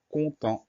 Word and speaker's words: content: Donc la première syllabe, c'est facile. C-O-N, pas de piège. Et la deuxième syllabe, c'est temps. On fera attention au son en qui va s'écrire avec un E et un N. Et au T muet, le T qu'on n'entend pas à la fin du mot, mais qu'on va retrouver dans contente.